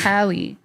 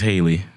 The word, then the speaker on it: Halle: I think it's Hallie. Haley, I thought it was Haley. Haley. Haley something. Never mind then. Lord, Listen, I got one. The Little Mermaid. that girl name is Haley.